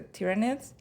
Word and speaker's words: Tyranids: And I think one of the times before you tried to get me into it, you were painting, uh, the tyranids.